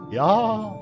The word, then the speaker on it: Ea: Ya, I believe, was the pronunciation used when referring to our people.